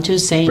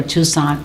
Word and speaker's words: Toussaint: Orleans to meet with Alan Toussaint, or Toussaint, whichever way you like to pronounce his name.